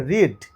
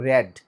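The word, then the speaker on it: read: তাহলে রিড, র্যাড, র্যাড, মনে রাখবে কিন্তু, কারণ এটা রিডটা এমন একটা ভার্ব যেটা স্পেলিংটা সেম থাকবে, কিন্তু প্রনাউন্সিয়েশনটা অর্থাৎ উচ্চারণটা টেন্সের উপর বেস করে কিন্তু পাল্টে যাবে।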